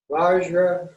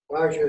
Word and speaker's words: Vajra: Vajra, Rena. Vajra is also pronounced Benza in Tibetan.